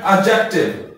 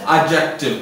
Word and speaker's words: adjective: ठीक है, उसके बाद आते हैं एड एडजेक्टिव। इस A-D-J-E-C-T-I-V इसको अक्सर लोग मिस प्रोनाउंस करते हैं, ये लफ्ज है एडजेक्टिव, एडजेक्टिव, ठीक है ना।